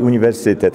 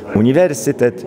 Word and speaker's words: uniwersytet: modelowy wydawnictwa dopuszczają się ten akcent polski na przedostatnią sylabę czyli uniwersytet ale absolutnie nie szczególnie do takiego oficjalnego nagrania postanowiłem zaakcentować elitarnie tradycyjnie pro parametry techniczne czyli przycisk zwalniający na trzecią klasę od końca uniwersytet wrocławski to jest akcentowanie wzorcowe prawie wrocławskiego mpk nie